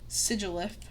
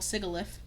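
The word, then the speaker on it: Sigilyph: Darmanitan, Moracus, Dwble, Crussell, Qu Scraggy, Scracrafty, Sigilith, which I used which I used to call Sigalith, Yamask, Coffrigus, Tertuga, Kacosta, Arkin, which I used to call Archin.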